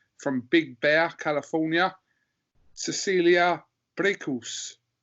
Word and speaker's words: Braekhus: I'm delighted to be joined by, all the way from Big Bear, California, Cecilia Braekhus. Did I pronounce that correctly? Close enough. Braekhus. Braekhus. Braekhus. Close enough. That'll do. That'll do.